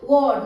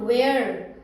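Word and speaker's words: were: एस फ्लास वड clear वड डब्लू ई आर E this is वड नॉट वेयर बहुत सारे स्टूडेंट इसको वेयर प्रोनाउंस करते हैं दैट्ची क्लियर आप देख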